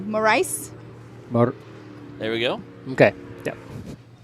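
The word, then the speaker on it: Morice: of uh liam morris is it maurice or morris i think it's maurice i'm not going to take a shot at that it's spelt m-o-r-i-c-e more rice there we go okay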